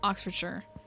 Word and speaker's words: Oxfordshire: It's Oxford. Shure. You're right. Not Shire. Not to be pedantic. No, I appreciate that. Oxfordshire. You're right. There's a there's a lot of like pronunciations that don't read the way they're actually supposed to.